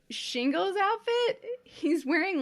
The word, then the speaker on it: Shingo: different, but for like the romanization or the romanji of the Japanese sounds, is it just be S-I-N-G-O, and that's pronounced Shingo?